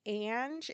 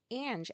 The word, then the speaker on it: Ange: Um, I'm learning recently that people see autistic Ange, A-N-G, and they pronounce it Ang. Did I say this before? I think I probably did. Well, there's still people doing it. It's autistic Ange, as in Angela.